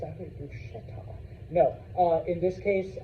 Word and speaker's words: bruschetta: of y'all, but you know the people that mispronounce Italian food here. Oh, it's gaboo. It's it's you know it's bret. It's actually bruschetta.